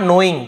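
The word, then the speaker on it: knowing: जिसे कहते हैं, नॉट नोइंग, के साइलेंट होता है, नोइंग यानी जानना, जानते हुए,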